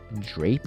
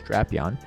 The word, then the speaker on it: Drapion: they actually come in drap on here so it's actually pretty good or a apparently the proper pronunciation is drapion but that's okay um